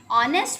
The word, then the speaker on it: honest: Honest man never tells lies. An honest man never tells lies. Okay, here again we have used "and" before honest because here the sound of H is silent.